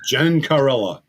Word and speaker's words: Gencarella: I'm joined now by Paul Gencarella, right? Did I say that right? Those Italian names are tough to pronounce, let me tell you. Gencarella. Yeah, yes.